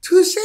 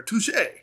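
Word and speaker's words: touché: rock it does um but touche is spelled like touch right but uh touche you know has the the accent that i think of old tom and jerry touche pussycat touche right the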